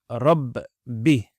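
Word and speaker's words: رَبِّ: So in Surah Al-Fatiha, Rabb, notice the Shaddah on the top, Bi. So you pronounce it as double.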